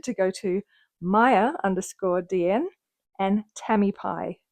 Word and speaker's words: Tamipie: So my thank you from that video was intended to go to Maya_DN and Tammy Pie, not Tampy as I mispronounced it last time.